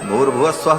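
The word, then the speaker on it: भूर्भुवः स्वः: ये तीन व्याह है तीनों को जब एक साथ उच्चारण किया जाता है तो ओम भूर भुव स्व ऐसा हो जाता है विसर्ग को र हो करके और फिर वो र ऊपर चला जाता है तो भूर भुव स्वा ऐसा उच्चारण होता है लेकिन मूलतः वो तीन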